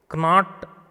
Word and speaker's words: knot: Knot, it is not. It is not only, not. NOT, not. We pronounce it as NOT. But actual spelling is KNOT, Guntu.